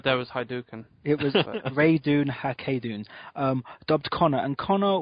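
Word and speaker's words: Ratonhnhaké:ton: Connor because having to refer to him as rayun hun would have been really annoying yeah and that is the pronunciation I've looked it up um cuz I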